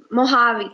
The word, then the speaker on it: Mojave: oj a ve but it is pronounced as mojave okay just like Mary